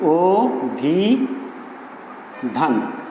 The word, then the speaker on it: অভিধান: যেমন অভিধান একটি শব্দ রয়েছে, আমরা লিখছি অভিধান, আমরা কিন্তু লিখছি অ দিয়ে। এখানে উচ্চারণটা হওয়ার কথা ছিল অভিধান, কিন্তু আমরা এই উচ্চারণটা অভিধান না লিখে বা উচ্চারণ না করে আমরা কিন্তু উচ্চারণ করছি ও দিয়ে উচ্চারণ করছি, ও ভি ধান।